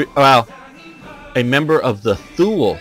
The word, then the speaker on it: Thule: a member of the Thule society or Thule Society for the pronounced both ways I prefer the pronunciation tool but I don't know which is correct in Bavaria the Thule